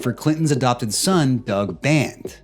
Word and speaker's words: Band: Clinton's adopted son Doug band I got band's name wrong there's no s but there's 25 different